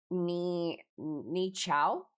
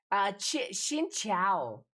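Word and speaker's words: Xin chào: It was Ni Chao. Fuck. What was it? How do you say it? Xin Chao.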